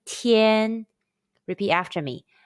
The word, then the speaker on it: tian: Let's combine the initial t, the final yen, and the high-pitched first tone all together. T, yen, tian. Repeat after me. T, yen, tian. Tian, tian, tian.